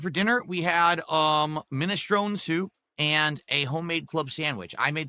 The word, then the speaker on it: minestrone: No, it's actually minestrone, but a lot of people have started pronouncing it minestroni.